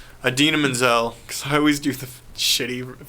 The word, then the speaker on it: Idina Menzel: menzel thank you I couldn't remember how to pronounce her name idina menzel I always do the shitty pronunciation I always